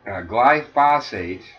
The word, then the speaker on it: glyphosate: our throats literally and actually uh gly uh glyphosate am I am I saying right Tammy you're good how spell it g l y p h o s